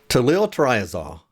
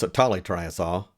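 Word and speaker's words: tolyltriazole: today's topic is to Lil triazol now I know some people pronounce Italy triasol but there is a second l in there I was taught to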